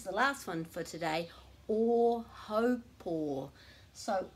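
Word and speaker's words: Ōhaupō: So a lot of people call that o haupō, so they're actually mispronouncing every single syllable. This is never o, this is always o, and this is ho, rhyming with mo, o haupō, o haupō.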